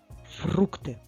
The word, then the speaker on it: фрукти: три склади молодець Давай ще разочок фрукти на який склад падає наголос на перший чи на другий так на першому складі а скільки всього складів